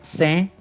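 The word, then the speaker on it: 千: sobra é um kanji que se pronuncia Sen e ele significa o número 1000.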